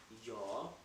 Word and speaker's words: ja: say in German in German we say your your means up your spelling dating game in GA